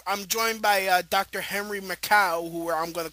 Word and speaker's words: Makow: Right, and then my name is Makow, Henry Makow. Oh. Rhymes with tobacco.